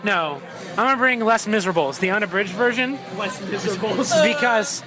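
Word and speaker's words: Les Misérables: I'm going to bring Les Miserables, the unabridged version. Les Miserables. Because I've never been able to finish that. Phil, I went to France this summer. It's most definitely Les Miserables.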